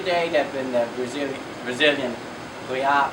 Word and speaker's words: real: Now the strongest currencies year to date have been the Brazilian real. It's real, but it's pronounced real, which no one would imagine.